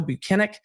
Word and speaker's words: Buchanan: When Alan Jackson started cross-examination today, which actually surprised me, he had said Buchanan, and he's like, no, Buchanan, and then kind of smiled, and Alan was like, I'll try.